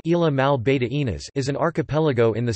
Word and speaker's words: Islas Malvinas: The Falkland Islands, Spanish, Isla Malvinas, pronounced Isla Mal Beta Inas, is an archipelago in the South Atlantic Ocean on the Patagonian Shelf.